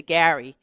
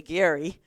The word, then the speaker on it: Gary: When I first came to the region and like most New Yorkers, you say Gary and I had to learn to say Gary.